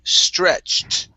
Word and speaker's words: stretched: to uh the word stretched instead of stretch it this is stretched with the t sound at the end stretch all right very